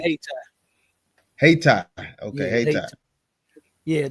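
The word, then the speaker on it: Hayti: They pronounce it Haiti.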